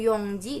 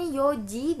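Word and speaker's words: 四時: 2 itu niji, 3 itu sanji, 4 itu yongji, dan seterusnya. Untuk jam, 4 jam itu dibacanya yoji dan 9 itu kuji ya teman-teman.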